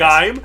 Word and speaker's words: Gaim: It's pronounced Gaim, but yes. Gaim.